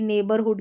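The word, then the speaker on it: neighbourhood: अब आपको पहले से नेबरहुड की स्पेलिंग पता होनी चाहिए नेबरहुड ठीक है नेबर यहां पर ए करके पढ़ा जा रहा है ई आई ई आई को ए और जी एच साइलेंट है इस तरीके से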